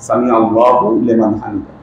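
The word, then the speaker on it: سمع الله لمن حمده: কিন্তু সঠিক উচ্চারণটা হলো, আপনাকে যদি ইবারত এরাব সহ পড়তে হয়, আপনাকে সামি আল্লাহু বলতে হবে, সামি আল্লাহু লিমান হামিদা।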